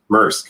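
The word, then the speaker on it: Maersk: especially the special uh merck is how you say it if i'm is that correct yannick mersk yes first yeah i don't want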